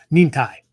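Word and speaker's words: 忍耐: He says, oh, Nin-Tai.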